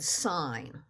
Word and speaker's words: sign: example of that is the word sign right the S is fair it's saying the sound you expect the N is fair but that i g doesn't seem to make